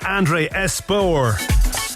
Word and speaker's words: Andre Espeut: This is the extended mix of Can't Get Enough by Birdie, featuring Andre Espeut. That's how it's pronounced, I kid you not.